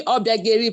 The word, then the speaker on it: Obiageri: is actually Obiageri, but because I'm in Yoruba land, they cannot pronounce it properly, so I just Obiageri is a popular word now.